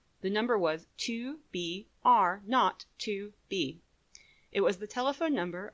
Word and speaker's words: 2BR02B: The 0 in the telephone number he pronounced naught. The number was 2BR02B.